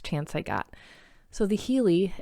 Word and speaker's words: Healy: So, the Healey, it's spelled H E A L Y, is a microcurrent medical device.